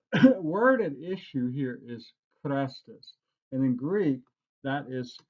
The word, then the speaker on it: Chrestus: Okay, so that third letter, which is a long E in Greek, the third letter on the Greek word, it would be an I if it were Christos, but instead it's Christos, not Christos.